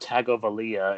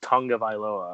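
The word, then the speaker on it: Tagovailoa: last name correctly now since I know how it actually pronounced Tonga by lower and not not tag of Aliyah its tongue of I Laura apparently so I don't think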